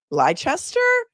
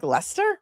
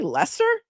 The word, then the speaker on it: Leicester: it cuz I'm like, "What How do you pronounce that? Is it Ly-chester?" And then I looked at him and said, "Lester? Really? Lester?